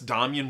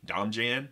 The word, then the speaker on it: Domjan: Now that's Domian with a J, so if you've only ever seen it written, you might be tempted to pronounce it Domjan, but now you're one of the cool people who knows how it's properly pronounced.